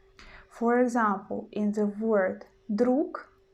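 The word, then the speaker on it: друг: example in the word druk in the end we don't pronounce gu we don't say drug drug no we use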